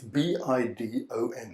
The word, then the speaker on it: bidon: or other European languages, it's known as a bidon. A bidon. You might want to write that down. You can Google translate it if you didn't quite understand my pronunciation, but it's B-I-D-O-N, that's bidon.